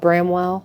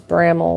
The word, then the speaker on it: Bramwell: it bramel brl not what did we call it Bramwell yeah but it's bramel we found out later